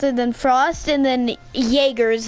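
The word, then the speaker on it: Jäger: Then Frost, and then Jaeger is how you pronounce your character.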